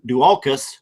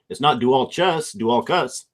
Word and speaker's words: Dualchas: We got Tomatin Dualchas. It's a hard C. It's not Dualchas.